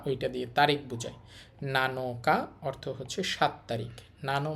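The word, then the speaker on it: 七日: আর এটা হচ্ছে তসু নানাতসু নানাতসু অর্থ হচ্ছে সাতটি এরপর দেখেন এইটা হচ্ছে নানো এখানে উচ্চারণ হবে আবার নানো নানো আর এটা হচ্ছে কা ওইটা দিয়ে তারিখ বুঝায় নানো কা অর্থ হচ্ছে সাত তারিখ নানো মানে সাত আর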